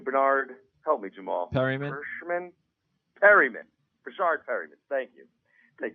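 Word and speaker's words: Perriman: Perryman.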